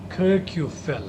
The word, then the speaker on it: Kirkjufell: Kirkjufell was one of the filming locations for Game of Thrones Season 6 and 7. Oh, interesting trivia there about Kirkjufell. And that island is pronounced Kirkjufell.